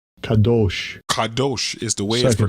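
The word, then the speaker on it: קדוש: Kadosh. Kadosh. Kadosh is the way Second it's pronounced.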